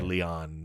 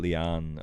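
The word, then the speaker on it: Lian: like a or Leon it's like a East Asian pronunciation it's spelled like l i a an but it's like Leon Harper oh Leon okay um this is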